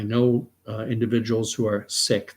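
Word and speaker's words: Sikh: uh individuals who are sick that's the way it's pronounced properly not seek sick that's the way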